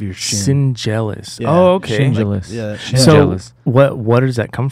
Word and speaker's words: Schendzielos: if it's s-c-h-e-n-d-z-i-e-l-o-s okay D and the Z you pronounce like a j wow dude yeah jealous